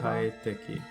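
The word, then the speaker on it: 快適: It tells you how to Oh, pronounce the kanji. kaiteki.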